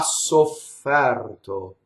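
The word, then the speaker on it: sofferto: So we would say avrà ssoffɛrto. Okay, so now we have an open E before an R, right? And what happens with English speakers is we make it rhyme with chair. So we'd say ssoffɛrto rhymes with chair, right?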